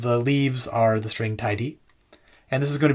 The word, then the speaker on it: TyDe: which is a string the name of this workshop i pronounce it tidy i think some people pronounce it tied i'm not sure which is right but i'm gonna do